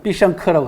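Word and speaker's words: 必胜客: 중국 발음으로는 삐샹크라고 합니다. 그러니까 피자헛하고 비슷하죠, 발음이. 그죠?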